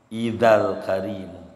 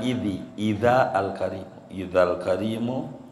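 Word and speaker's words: إِذَا الْكَرِيمُ: rasulallahi jahuki Al karimu Idal karimu jangan ID Alim Al karimu taja bismiut ketika Allah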